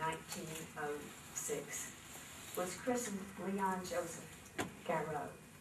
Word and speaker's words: Garreau: The son of Belgian immigrants who came to Arkansas in 1906 was christened Leon Joseph Garreau. Correctly pronounced Garreau, but Americanized to Garreau.